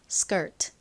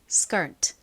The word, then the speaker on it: skirt: S 바로 뒤에 이렇게 K가 오면 보통 어떻게 발음이 된다고 말씀드렸죠? 좀 세게 된 소리처럼 발음이 됩니다. 그래서 skirt보다는 미국식 원어 발음으로는요. skirt, skirt 이렇게 발음을 합니다.